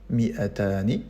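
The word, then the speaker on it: مائتان: Pour dire 200, c'est le duel appliqué au mot mi'atun, donc on dira mi'atani, la terminaison ani.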